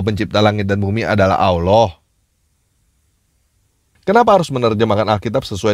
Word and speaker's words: Allah: atau dalam tulisannya AWWH, dan cara bacanya Allah. Menurut pelafalan Arab, jadi tidak ada orang Arab yang membaca Allah pakai huruf A, bukan O.